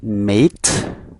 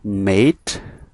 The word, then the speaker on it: mate: insecure second word that's mate okay again mate mate okay យើងអានសំឡេង a ណា okay មិនមែន a ទេកុំអានថា mat okay យើងអានថា mate right mate then threaten threaten